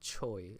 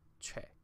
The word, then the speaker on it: Che: It's not Choi, it's Che.